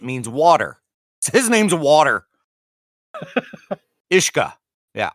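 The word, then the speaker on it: uisce: Ishka. Yeah. Ish-K Ah. Ishka. The U is silent. Yeah. It's Gaelic Irish. It means water. The U is silent and the S is pronounced like a shh in ship.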